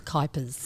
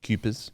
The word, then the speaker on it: Kuipers: weird, and it's Kuipers, Kuipers, as yes. in wipers.